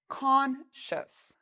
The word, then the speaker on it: conscious: Well, you see that there's a C, so that means we pronounce it like shus. So the C-I-O-U-S has a sh sound, like you're telling someone to be quiet, sh. And then we have a short U sound, shus, and an S at the end. So let's say this one together. Conscious, conscious, conscious.